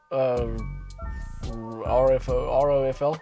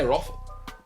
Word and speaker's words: ROFL: ROFL. So you say the letters. As opposed to Roffle. I say Roffle.